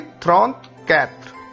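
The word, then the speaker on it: trente-quatre: 30 का उच्चारण हमें मालूम है थ्रॉन्थ और 4 का उच्चारण होता है कैत्र। सो 34 विल बी थ्रॉन्थ कैत्र, थ्रॉन्थ कैत्र।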